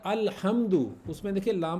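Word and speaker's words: الحمد: मिसाल ले सकते हैं जिसमें आ रहा है अल्हम्दु उसमें देखिए लाम प्रोनाउंस हो रहा है ना अल्हम्दु अल्हम्दु तो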